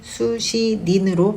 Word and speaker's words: 수신인: 수신자와 같은 의미의 수신인이 있는데 수신인은 수시닌으로 발음해야 하니 주의하세요.